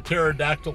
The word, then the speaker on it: pterodactyl: can't you hear the pterodactyl when he goes to the bathroom cuz they're extinct NOP cuz the pee is silent I didn't even know there was a pee in that so that's some that's